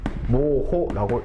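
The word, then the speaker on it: mho: 자, 얘는 뭐라고 읽을 거냐면 얘는 모호라고 읽어주시면 돼요.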